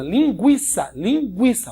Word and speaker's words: linguiça: A pronúncia continua sendo a mesma. Linguiça, ó, linguiça. O U é pronunciado.